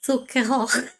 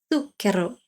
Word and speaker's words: zucchero: So sometimes I might say odd things like zucchero. That's really funny because I'm not pronouncing it correctly when I do that. Of course, it should be zucchero. You need to roll the R a little bit.